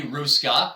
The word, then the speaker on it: Hruska: So I'm going to introduce our guest today, Hruska, and I did get that right. There's a silent H there for those of you reading this.